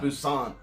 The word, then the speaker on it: Busan: Busan. Yeah, I think I looked it up and it's actually pronounced with a P.